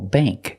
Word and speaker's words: bank: So again, words with ANK and ANG use the long A sound, like plate and date. Example, bank.